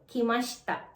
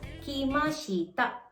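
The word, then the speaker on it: きました: And take note, may vowel devoicing ulit tayo, which is kimashita. Kimashita. Nawala si letter I sa shi. Kaya hindi mo siya ipopronounce as kimashita. Kimashita. But kimashita.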